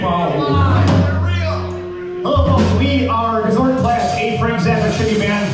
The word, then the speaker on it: Gozortenplat: As I mentioned, we are a Milwaukee-based Frank Zappa tribute band known simply as Gozortenplat. I don't need to spell it out. It's just, it's spelled phonetically, Gozortenplat.